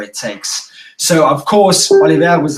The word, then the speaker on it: Olivier: Yeah, Olivier.